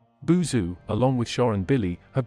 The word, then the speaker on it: Boozoo: buzu along with Sean Billy have been invited by bond to have a movie night and sleepover however when he is listed the second time he is pronounced as Bazoo he and his friends